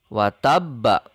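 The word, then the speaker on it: وتب: Kemudian pada kata selanjutnya ada watabba. Huruf terakhirnya adalah ba yang berharokat fathah. Maka ba ini pun harus disukunkan.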